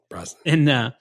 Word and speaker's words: Brosnan: Brosnan.